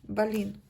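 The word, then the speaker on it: Berlin: зараз іхвуне inн berlн балін балін ця р не не читається балін іхвуне ін балін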